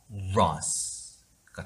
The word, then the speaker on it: virus: 근데 바이러스는 윗입술과 아랫입술이 닿기 때문에 B 발음이죠. 알파벳 B. 하지만 얘는 V이기 때문에 윗니와 아랫입술이 닿아야 되죠. 떨림과 함께. 그래서 얘는 바이러스가 아닌 바이러스예요.